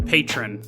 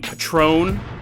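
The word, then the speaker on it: Patrón: menu and I go I'll have the the patron and and the the waitress goes you mean Patrone and I look at her and I go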